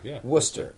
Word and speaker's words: Worcester: arranged Carlton Rob from if I think it's pronounced Worcester Massachusetts Worcester even though it is there are visitor there are many letters in there that are not pronounced by Linda Worcester -